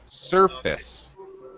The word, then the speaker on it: surface: was telling you uh surface oh oh okay pronunciation okay uh first syllable stress surface the first part is like awah sound just an uh surface the top of the